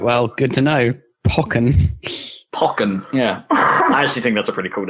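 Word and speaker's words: Pokkén: It's like if it has the accent on the E or the O. Wait, is there an accent on the E or the O? The E, isn't it? Yeah, Poke. Yeah. So it'd be Pokken.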